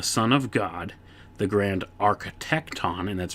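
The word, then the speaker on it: architekton: or Mason a Son of God the Grand architecton and that's spelled a r c h e t e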